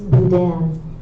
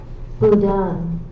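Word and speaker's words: boudin: The word is budan. Are the Are there any alternate pronunciations? Budan.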